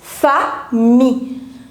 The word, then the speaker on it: famille: There are two syllables, famille. F-A, the pronunciation of A in French is A, so fa. And whenever I-double-L comes together in French, we do not pronounce double L. So we have to pronounce only till I.